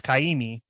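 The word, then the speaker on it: Kaʻimi: Based off how his name is spelled, it would have an Okina after the A, so it's Kaimi, which is Hawaiian.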